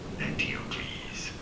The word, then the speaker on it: Theokles: It is generally pronounced as Theokles.